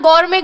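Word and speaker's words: gourmet: लोग जानते हो तो इसका प्रोनंसिएशन में टी साइलेंट रहता है है ना गौर में गौर में इसका प्रोनंसिएशन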